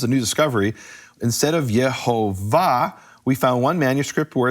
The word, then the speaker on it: Yehovah: Because I have this massive bulk of evidence where in all the other manuscripts, 1,721, it's Yehovah.